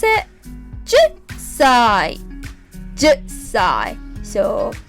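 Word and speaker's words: 十歳: We pronounce it 10歳 10歳.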